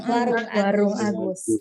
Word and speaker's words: Agoes: Bacanya gimana? Warung. Bacanya? Warung Agus.